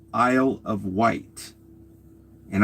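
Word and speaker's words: Wight: island called Isisle of White. And I think white is spelled W I G H T. Okay, so that's weird.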